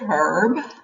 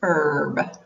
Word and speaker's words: herb: overlap so is it herb or is it herb well i meant to say herb but i usually say herb the h is generally not pronounced by most americans but either is correct so why do we